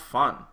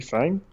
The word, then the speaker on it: F.A.N.G: Like if it wasn't if it wasn't an acronym, yes, you would pronounce him the Chinese way, which should be like fun. But it is an acronym. So it's like, well, shouldn't it be fang?